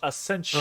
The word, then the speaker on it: Essentia: Akensia would be a hard C. It's not a soft C either. Yeah. It's a It's a TIA. Yeah, it's a TIA or an SH. Essentia.